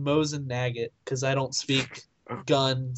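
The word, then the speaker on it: Mosin–Nagant: You said Whizzing Nagget. What? It's more than the said- dots. I said Mosin Nagant because I don't speak gun, so More than Nagget.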